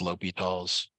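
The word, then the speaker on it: L'Hôpital: L Let me apostrophe L'Hopital's, pronounced L'Hopital's.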